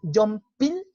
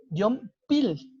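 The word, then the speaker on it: 연필: Entonces, por ejemplo, aquí, Yompil, la R, esta que tenemos aquí, el riut, funciona como L. Yompil, L, il.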